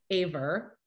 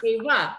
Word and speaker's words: Ava: If a word ends in an A, my mom adds an R. So I have a niece named Ava that she calls Aver. Where's Aver? I'm like, Mom, it's Ava, just like it's spelled.